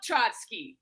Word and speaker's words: Trotsky: Trotsky that I love Trotsky I I loved it it rhymes with chotsky just don't talk about